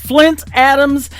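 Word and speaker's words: Flynt Adams: His name is Flint Adams. It is spelled a little bit different. It is F-L-Y-N-T.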